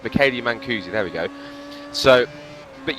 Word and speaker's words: Mancusi: I just had something in my ear just telling me how to pronounce Mancusi, so thank you for that. It's Michele Mancusi, there we go.